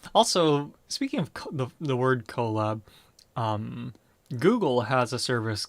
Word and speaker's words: Colab: collaborate and laboratory so the pronunciation for that i think is collab because it is spelled code plus lab essentially or cl coplos like a laboratory so um but that's